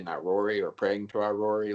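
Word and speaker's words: Irori: r o r i so it's like Ivory but with no no V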